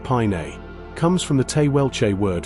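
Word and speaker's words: Paine: The name Pain pronounced pine comes from the Taywelche word for blue, referencing the dominant hues of the landscape.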